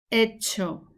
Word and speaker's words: hecho: He hecho. Remember not to pronounce the H. He hecho.